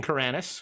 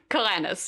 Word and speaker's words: Karanis: King Karanis. It rhymes with Rick Moranis, so that's how you remember.